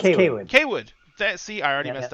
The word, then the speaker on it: Cawood: I am pronouncing that right? Cawood? Actually, it's Cawood.